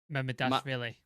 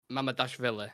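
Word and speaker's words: Mamardashvili: Mamadashvili. Mamadashvili.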